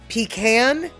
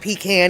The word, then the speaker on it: pecan: But I also can say that pecan, as much as y'all dislike the whole, it's not pecan, it's pecan. Well, actually, the Native American word that the English have adopted as pecan was originally pronounce pecan. So even though the anglicized version of it is what all people want to say, pecan, whatever, pecan is equally correct.